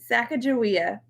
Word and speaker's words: Sacagawea: here oh my gosh oh sacagawea is how you say that name it's like a joey